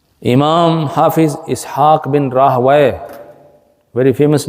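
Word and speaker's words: Rahwayh: This is written like Rahwiyah. Ra, alif, ha, waw, ya, and rounded ta at the end. Rahwiyah. But in the pronunciation, it is called Rahway.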